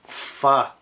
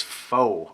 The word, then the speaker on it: Phở: doing well today I've got some Mr Noodles F noodle soup and High River sauces Thunder juice